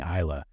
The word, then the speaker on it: Isla: And good job, Michael, pronouncing Isla. We were the dog parents that didn't realize that in America that was going to be pronounced incorrectly by everyone just by looking at the word.